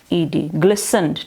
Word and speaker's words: glistened: Spelling बोले GLISGLISTENED, ग्लिसनड, T silent होगा, ग्लिसनड कहेंगे। क्या कहेंगे, ग्लिसनड।